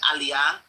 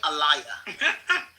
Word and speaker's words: aliyah: there are certain words everybody knows how to pronounce. So instead of saying aliyah, which is, you know, the naturalization process in Israel, she kept saying, uh, what did she say? Allayia.